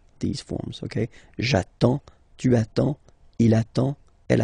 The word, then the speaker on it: attends: So the first form will be j'attends. J'attends. Okay? You get D and S. Well, basically you don't pronounce them.